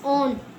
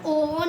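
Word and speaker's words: on: ओ का a sound जिससे starting में हम ओ एन ऑन ऑन इसको ओन नहीं पढ़ते हैं।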